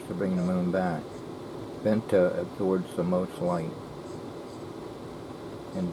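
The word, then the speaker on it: Vanta: a Hightech laser a vent to Black laser a nephew William Marcel P said you mean Venta yeah Venta well you pronounce it better than I can wh Venta black shadow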